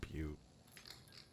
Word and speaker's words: Butte: and casino I was calling it but it's pronounced Butte dreams outside they found a door marked with